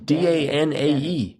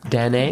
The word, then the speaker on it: Danae: Danae, D-A-N-A-E. Yeah. Mm-hmm. And, I'm sorry, how is it pronounced? I think it's Danae. Danae?